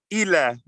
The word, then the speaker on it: ila: so much hey okay Ila this is pronounced Ela it means to or